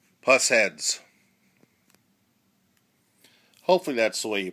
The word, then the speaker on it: Pushead: way you pronounced it it could be push head P head I've heard various different flavors I believe the best interpretation of them is puss head I'm sure there'll be